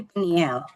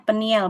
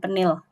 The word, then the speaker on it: Peniel: Kemudian berikutnya ada lagi penegasan keberpihakan Allah di Peniel di tepi sungai Yabok. Bacanya peniel Bapak Ibu, bukan Penil. Kalau penil tuh ejaan lama tapi ini bahasa Ibrani peniel bacanya.